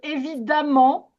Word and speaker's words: évidemment: Ça s'écrit E m e et on prononce A.